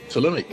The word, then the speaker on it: Ptolemaic: She was raised and highly educated in Alexandria in a manner appropriate for a Ptolemaic princess. Again, Ptolemaic is spelled P-T-O-L-E-M-A-I-C, so the P is silent.